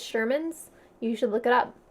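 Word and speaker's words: Scheuermann's: sherman's disease it smell it spelled weird like it's kind of like spelled like schuler is spelled but it's sherman's you should look it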